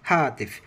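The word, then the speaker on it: هاتف: Phone হাতিফ, হাতিফ বলবো না, হাতিফ যদি বলি টাস করে এটা শব্দের উচ্চারণটা মানে একটু ভিন্ন দিকে চলে যাবে, সেজন্য আমরা ফোনকে জাস্ট একটু মাঝখানে একটু ছেড়ে দিয়ে পড়বো, সেটা হচ্ছে হাতিফ।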